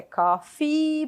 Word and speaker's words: coffee: Aqui a pronúncia é coffee, pronuncia assim, estica esse som aí do E.